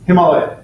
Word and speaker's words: Himalaya: So it's Himalaya.